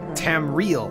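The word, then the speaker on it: Tamriel: oh no here here we go their minds tam real that's how it's pronounced landscape so did you did you catch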